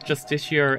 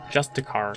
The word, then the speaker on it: Justiciar: They pronounced Justiciar as Justicar at some point. And like... how do you spell it? How did you spell it? That's Justiciar. Did they spell it differently? And they missed like three of the letters when they were saying it as a line of dialogue.